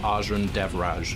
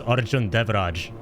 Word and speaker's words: Arjun Dej: The way it's pronounced is Arjun Dej.